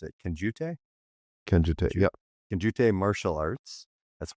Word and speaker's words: Kenjutsu: Okay, so you hold a fourth So, number one, you hold a fourth-degree black belt and I can't even pronounce it, Kenjutsu? Kenjutsu, yep.